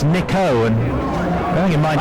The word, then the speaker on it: Nikau: control tells me this we've been mispronouncing his name for the last 15 years it's not nikau it's nico and bearing in mind